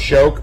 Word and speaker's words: Shoke: The 11, I don't know how that's pronounced, Shoke, but that's how you pronounce that horse's name. Shoke.